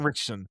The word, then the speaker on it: Ritchson: I've Alan Ritchson, I think is how you say his name. Ritchson.